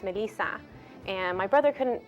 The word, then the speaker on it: Melissa: years old and uh my name Melissa in Spanish is pronounced Melissa and my brother couldn't